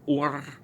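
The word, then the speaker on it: אור: It's actually or. You're supposed to roll your R just a little bit.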